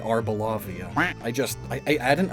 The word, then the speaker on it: Arboliva: It's Arboliva. Arboliva. Or is it Arboliva? Either way, though, there's no second O.